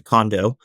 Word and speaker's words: Condo: So, I think that the closest pronunciation I've been given is close to Condo.